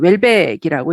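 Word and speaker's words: Houellebecq: 그래서 처음 번역하시는 이 번역가 분이 이제 우엘백으로 그냥 프랑스식으로 읽으면 우엘백이 사실은 맞거든요. 했는데 아마 이분도 아마 조상이 어디 다른 데서 오신 것 같아요. 그래서 이제 원래는 이제 웰백이라고 읽는 게 맞다고 해서 이제 요즘은 이제 이분을 웰백 하는데 그전에는 우엘백이라고 표현을 했습니다.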